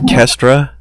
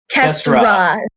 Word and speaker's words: Kesra: Wait, did you say her name was Kestra? Kesra. No T.